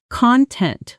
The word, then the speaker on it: content: Stress shifts here to content when it means satisfied versus content when it means the material inside.